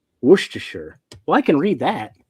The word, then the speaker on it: Worcestershire: me what he wants me to pronounce, and then I'll pronounce it. No, I'm not going to give you any hints. I'm not going to. Worcestershire sauce.